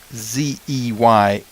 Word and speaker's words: Zeynep: But if you just spell it out, the Zeynep is pretty close to phonetic, Zeynep, but then the last name Avci.